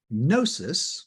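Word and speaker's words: gnosis: means disease in Greek and nosis with the silent G there um that means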